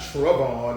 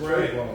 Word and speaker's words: Trayvon: It's not Tron, it's Trayvon.